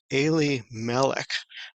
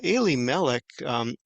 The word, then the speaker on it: Elimelech: Now, Eli-melech, we probably never heard that in English because we would call him Elimelech, or that's how it's transcribed in English. But to a Jewish person, it would be Eli-melech, and they would recognize right